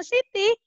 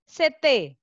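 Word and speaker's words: city: Bacanya bukan Siti, tapi CT. Ada E-nya, CT. Begitu.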